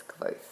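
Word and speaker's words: Kvothe: t h e uh it's said to be pronounced like qu but it's quo and basically here's the coolest redhead you're ever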